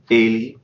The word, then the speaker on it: ele: In the third person, for he, it's ele, ele. She is ela, ela. Listen to the difference in how the first vowel of those is pronounced. Ele, ela. They're different.